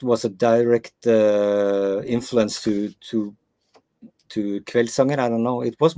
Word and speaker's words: Kveldssanger: Kveldssanger.